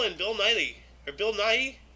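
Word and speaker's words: Nighy: Bill niley or Bill Nye Nagi how do you pronounce that name I don't know 1994 asteroids I'm sorry I am not sure it's n-i-g-h-y nahi like Nike I I don't know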